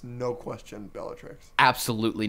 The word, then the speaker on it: Bellatrix: a good one Andrew nice job literally uh Belichick's Lestrange nope why that's not her name Bellatrix Lestrange there you go there's no shot you